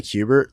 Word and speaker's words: Kubert: can get an official ruling on the correct pronunciation. Kubert School or Kubert School? They say Kubert.